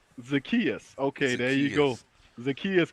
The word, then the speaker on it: Zaccheaus: How you pronounce his last name? Zamachias? Olamide Zaccheaus. Zacchaeus.